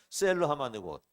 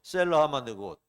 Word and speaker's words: 셀라하마느곳: 셀러하마드 곳. 다시 한번요. 셀러하마드 곳. 네.